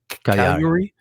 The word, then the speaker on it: Cagliari: Like, you said key the move for one of the goals against Cagliari. Did you just say it without pronouncing the G at all?